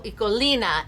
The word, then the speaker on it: Ecoline: So if you've never heard of Ecoline markers, first, eco does not mean economy. Eco is school in Dutch. Ecolina is actually how it's pronounced in Dutch.